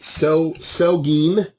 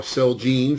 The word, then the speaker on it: Celgene: want to watch that sell sell gene or celgene for those of you who pronounce it correctly could be in a